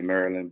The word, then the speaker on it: Maryland: Um, know that it's Maryland. Not I don't know how people not from Maryland say Maryland, but I know how it's spelled, but that's incorrect how it's spelled. It's Maryland. Okay.